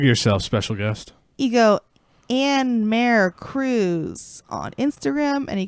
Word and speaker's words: AnnMare: It's really Anne Marie, but there's no E at the end of Anne, and there's no I at Marie, and there's a fucking accent over the E.